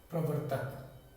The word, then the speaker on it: प्रवर्तक: तो इसका उच्चारण क्या है, बहुत बच्चे गलत पढ़ते हैं। जैसे ये नीचे का र है तो पहला प पढ़ेंगे, उसके बाद र का उच्चारण होगा, और व के बाद में इस र का उच्चारण होगा त से पहले।